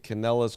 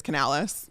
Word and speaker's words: Canales: Bucs have a new offensive coordinator, Dave Canellis, coming over from the Seahawks. Any relation to Lou? I don't. It's not No, spelled it's the not same. spelled the same. It's Canales.